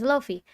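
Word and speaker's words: Laufey: my heart yeah yeah yeah yeah yeah it's Loy l a u f e y whenever I'm not sure how to pronounce something sometimes I end up memorizing how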